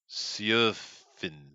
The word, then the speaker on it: Sjofin: name is Sjofin. Sjofin. Sjofin. Oh, wait a minute. I knew that check in high school. The Yeah. J's are pronounced as Y's, right?